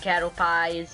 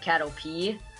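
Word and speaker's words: Caterpie: Beat the cattle peas and cattle pies and everything that starts with cattle. I don't know. I think I think you're supposed to pronounce it cattle P, not cattle pie.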